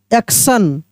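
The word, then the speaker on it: action: देखिए ए सी टी आई ओ एन एक्शन।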